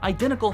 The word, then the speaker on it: identical: sounds afterwards are identical identical doesn't rhyme with pickle because even though they both end with ickle identical has its stress in the wrong place we could rhyme them if we pronounced it not identical but instead I didn't tickle with that in mind